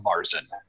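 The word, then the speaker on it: Märzen: its myths it stories has an Austrian friend has corrected me many a time on my pronunciation for those who don't know it's a Marcin the kind of like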